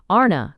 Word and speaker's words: ana: The word ana, pronounced broadly, arna, corresponds with our plural, men, and pronounced arn, the singular, with man.